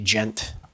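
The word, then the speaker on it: djent: And like a lot of gent, D-J-E-N-T, gent.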